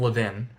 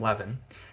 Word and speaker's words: Levin: pink by Adam Levin I said his name wrong wrong it's Adam Levin not Adam Levin and I believe I